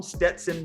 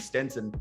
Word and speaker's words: Stetson: as they call him, Stetson Bennett. And we are saying it right on this one, as I guess we got it wrong on the last one. We kept calling him Stenson.